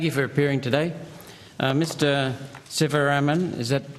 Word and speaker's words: Sivaraman: Mr Sivaraman, is that how you pronounce it? Sivaraman. Sivaraman, thank you.